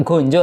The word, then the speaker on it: ganja: terlarang, daun yang terlarang, gonjo lah ya, gonjo. Kalau di tulisan itunya sih ya ganja, di tulisan bahasa Indonesia, tapi kalau di kita orang Jawa ya gonjo, bacanya O.